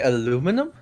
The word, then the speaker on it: aluminum: Wait, did you say aluminum?